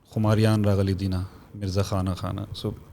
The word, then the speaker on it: Khumariyaan: And then अब वो Khumariyaan है या Khumariyaan है, every province has its own pronunciation, but the correct way to say it is Khumariyaan. Okay, Khumariyaan, noon instead of noon gunna.